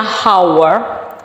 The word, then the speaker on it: hour: Jam ini dalam bahasa Inggrisnya hour, hour, bukan hour ya, tulisannya hour tapi bacanya hour, hour.